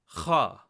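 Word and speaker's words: ख़: To properly pronounce this sound, it's almost like a guttural sound, but it's almost like you're scratching your throat, and it should generate a lot of spit when you say the letter.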